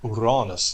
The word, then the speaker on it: Uranus: evening uh but remember Uranus is or Uranus to give it its proper pronunciation um is right on